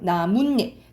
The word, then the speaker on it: 나뭇잎: 나뭇잎 니은니은 소리가 덧나.